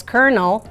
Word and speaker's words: colonel: was very famous because you pronounce it as kernel but it's written Colonel yeah yeah and it's